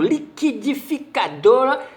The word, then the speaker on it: liquidificador: acabei de comprar no liquidificador e liquidação essa confusão ocorre porque os grupos g u i q u diante de e ou i u não deveria ser pronunciado seria fonema apenas diante